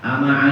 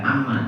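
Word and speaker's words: أما: Ya Musa, ama alimta, wahai Musa, apa kamu tidak tahu? Bukan amma, tapi ama alimta. Tulisannya amma sama. Gitu. Tapi bacanya berbeda.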